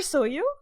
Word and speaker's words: Seoju: Oh, because the J is silent. Yeah, like the O, like here's like Seoju and or Soju or whatever, and in Spanish is Soyu.